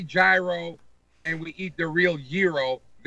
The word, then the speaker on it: gyro: You're Greek, for God's sake. Say it correctly. Gyro, for God's sakes. Gyro. People in Reno who are driving, who are as white can be, are going, what the hell's a gyro? It's gyro.